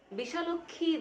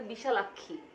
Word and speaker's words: বিশালাক্ষী: কোথাও সে নাই বলতেছে বিশাল অক্ষী দিয়েছিল বর সরি উচ্চারণটা হবে বিশালাক্ষী বিশালক্ষী মানে কি বিশাল যোগ